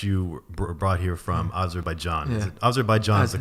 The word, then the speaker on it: Azerbaijan: the fact that you brought here from Azerbaijan Azerbaijan is the correct pronunciation right okay right after the Soviet Union